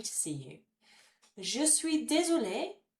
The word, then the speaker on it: désolée: Je suis désolée. Again, that extra E on the end, although this time it doesn't make any difference to pronunciation. It sounds the same for masculine and feminine.